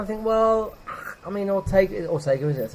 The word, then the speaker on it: Ortega: and you know, some do and some don't, and you kind of think, well, I mean, Ortega, is it? That's how you pronounce it.